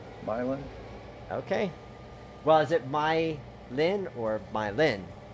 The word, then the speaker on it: Milan: Henderson was just saying my Lynn not my lawn myelin okay I've been through